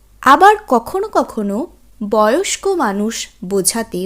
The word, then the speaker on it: beau: আমরা এই শব্দগুলো কিন্তু সাধারণত বলে থাকি মেয়েটি ভীষণ সুন্দরী বা ছেলেটি ভীষণ সুন্দর। সেই ক্ষেত্রে বো, বেল অর্থাৎ স্ত্রীলিঙ্গবাচক শব্দের ক্ষেত্রে বেল, পুংলিঙ্গবাচক শব্দের ক্ষেত্রে বো।